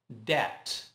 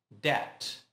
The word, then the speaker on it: debt: Não pronuncie a letra B. Debt. Debt.